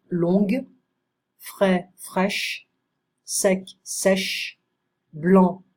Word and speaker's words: longue: bas, basse, fou, folle, long, on ne prononce pas le G, longue, frais, fraîche, sec, sèche, blanc, blanche, grec, grec, public, public.